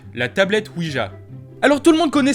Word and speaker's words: Ouija: Donc la tablette Ouija, que nous devrions prononcer Ouija puisque ça vient d'un combo entre le oui français et le ya allemand, qui veut dire oui